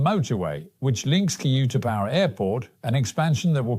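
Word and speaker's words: U-Tapao: So it's called Utapao. That's the way to pronounce it, I think.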